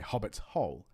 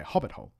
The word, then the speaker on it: hobbit-hole: You put stress on both the hobbits and the hole. You say hobbit's hole. But then as it becomes more familiar, you actually drop the stress on the second part of it and you say hobbit hole.